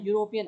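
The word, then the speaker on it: European: यूरोपियन आवाज देखिए कैसे निकल रही है प्रोनाउंस कर रही है यूरोपियन को क्या आएगा यहां पे बी शी इज अ यूरोपियन citizen okay हम यू की आवाज निकल रही है यहां पे यू की है तो इ वोवेल लगा हुआ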